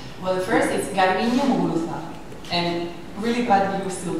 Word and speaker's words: Muguruza: and I've been corrected on the way that I'm using the Z. I'm saying Muguruza. Ah, much better.